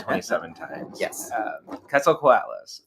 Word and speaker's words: Quetzalcoatlus: to go to YouTube and listen to the pronunciation like 27 times. Yes. Quetzalcoatlus. Quetzalcoatlus.